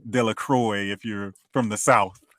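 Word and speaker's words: Delacroix: say it correctly and it's because it's a French name it's umin dequa uh or or ugene it looks like Eugene De La Croy if you're from the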